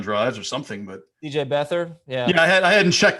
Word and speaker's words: Beathard: I don't want to be the guy who mispronounced it. Oh, you did. It's Beathard.